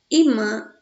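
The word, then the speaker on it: ímã: Pólen, safari, íris, fácil, álbum, tórax, vírus, órgão, imã, mágoa, móveis, régua, bíceps, certo? Que na verdade é imã, né? Faltou aí no caso o acentozinho no i, tá certo? Imã.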